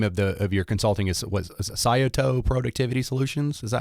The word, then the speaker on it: Scioto: Yeah, and the name of your consulting is Sayato Productivity Solutions. Is that how you say it? Yeah, Scioto is a river.